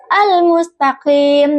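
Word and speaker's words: الْمُسْتَقِيمَ: Kata almustaqim dengan huruf qof yang makradnya itu di tengah tenggorokan. Maksudnya itu dekat dengan kerongkongan. Kesalahan yang sering terjadi seperti pengucapan kaf yaitu kaf yang keluar dari bibir atas sehingga terdengar seperti mustaqim yang menjadi mustaqim. Contoh baca yang benar almustaqim dengan qof yang keluar dari tengah tenggorokan.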